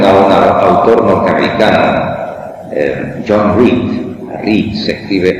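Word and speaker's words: Reed: si ustedes conocen a un autor norteamericano John re re se escribe r e e d re John re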